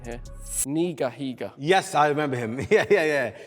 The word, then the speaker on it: Higa: Did you ever watch the YouTuber, right pronunciation here? Higa.